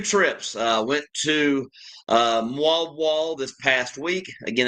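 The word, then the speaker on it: Moalboal: Uh went to uh Mu Wall this past week. Again, that's M O A L B O A L. They pronounce it mw wall.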